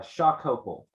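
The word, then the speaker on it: Xocopol: is um oh it's not too bad uh shock couple but it's special but it's spelled x-o-c-o-p-o-l Chicago can you take us the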